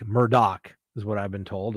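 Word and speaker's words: Murdaugh: case I pronounced that Murda because that's the way it's spelled d-a-u-g-h but it's pronounced with a doc Murdock is what I've been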